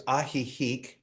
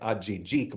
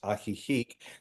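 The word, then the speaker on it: Ajijic: So, I'll say it's ahik. If you look at it, a j i j i. It looks like a jik, but it's actually pronounced aihik.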